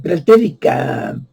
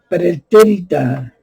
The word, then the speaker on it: pretérita: Tiempo a los escritores políticos de la pretérica, perdón, ¿cómo se pronuncia? Pretérita, sí, así, pretérita Grecia, optaron por emplear dichos términos para denominar la forma tan degenerada y vil, ¿verdad?, de aristocracia, ¿sí?